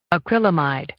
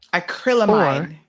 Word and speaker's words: acrylamide: wrong let's see um it is let's see acrylamide acrylamide acrylamide so it's called acrylamide or acrylamide i was totally off on that one acrylamide or acrylamide this is your word of the